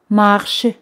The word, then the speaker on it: marchent: Bien, les gens marchent. Les gens marchent. Aquí ENT no se pronuncian. De la tercera persona en plural, ENT no se pronuncian. Se escriben, pero no se pronuncian.